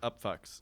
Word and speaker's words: Upfux: It's spelled F-U-X. So right. Yeah. I get it. It's still pronounced the Upfux.